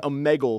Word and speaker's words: Omegle: But I call it Omegle. Omegle. I think it's called Omegle.